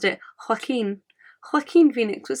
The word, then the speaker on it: Joaquin: from science and I have always called him Joaquin Phoenix I was watching an interview the other day and it's actually pronounced or this this person pronounced it Hakeem Joaquin Phoenix what sounds so much better than